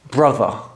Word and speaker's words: brother: it first brother okay let me break down how British people pronounce this word the first sound is bruh I want you to imagine this sound is going up bruh BR the second sound is th so we've got a voice th sound and the